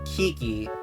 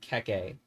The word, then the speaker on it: Keke: Well, if the intent was to pronounce it Kiki, why doesn't it look like this? Or this? But still, no one calls that meme frog Peep either. Also, the Baba Is You creator calls it Keke.